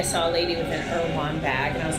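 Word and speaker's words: Erewhon: If this was sold at Irwin, how do you pronounce that grocery store? Irwan.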